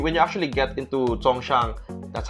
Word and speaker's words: Songshan: know when you when you actually get into Songshan that's how you pronounce it when you get the Hongshan that's